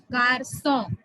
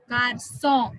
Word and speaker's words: garçon: And finally you have sedia, sedia, sedia, which gives you the pronunciation sir, which changes k to sir. Okay, the pronunciation, it changes the pronunciation of C from k to sir. Garçon, garçon means boy.